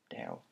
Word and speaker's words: Dale: deliver from now because we meet Dal and we all love Dal he's like dale dale I'm very good at saying things like how the Americans say um but yeah otherwise